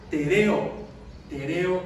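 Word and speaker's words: τηρέω: Guardar quiere decir, bueno, más o menos se pronuncia tereo en griego.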